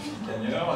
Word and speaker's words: Philippe Gagneur: Alors, je me présente, je suis Philippe Cagneur. La prononciation, c'est à peu près ce que vous voyez ici.